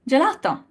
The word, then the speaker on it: gelato: translate the same letter but G hard G sound in G and a j sound in gelato why does it happen